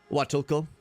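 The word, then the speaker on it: Huatulco: The H isn't pronounced in this one. Should be Watulco.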